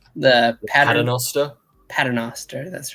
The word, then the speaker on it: Paternoster: So they have revealed the cover for a new release with my favorite trio that I can never pronounce. The Paternoster. Paternoster, that's right.